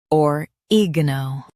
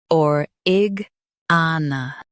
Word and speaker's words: oregano: or-ig-a-na Now, read the syllables of British pronunciation shown on the screen naturally. or- ig- a- na or-ig-a-na or- ig- a- na or-ig-a-na US says oregano. UK says origana.